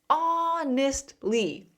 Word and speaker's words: honestly: The H is silent. It sounds like awe, like awesome. Always. Honestly.